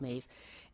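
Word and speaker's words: Medb: And it's pronounced Maeve because it's an Irish name. Not about the Irish goddess, by the way, but it is called Maeve.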